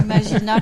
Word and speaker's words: Imagina: Imagina, comme ça se prononce.